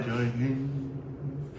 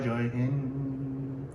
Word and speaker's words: Jai Hind: I believe the D is a soft D.